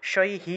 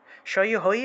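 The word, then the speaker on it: পট্টিশৈঃ: পাল, পালাসি, পট্টিশৈহি, পট্টিশৈহি, ঐকার থাকলে, বিসর্গ থাকলে এটা রস্বইকারের মতো উচ্চারিত হয়, শৈহি হবে, ঠিক আছে? এই যে ঐকার আছে না, এটা থাকলে রস্বইকার আসবে, শৈ হই হবে না, এটা একটু ব্যতিক্রম, শৈহি।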